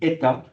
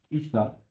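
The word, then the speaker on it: ήτα: Ça se prononce en grec ancien, ça se dit Eta. En grec moderne, c'est Ita.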